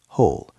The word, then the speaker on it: whole: The w is silent. We just hear the h whole morning. This small routine changes my whole morning.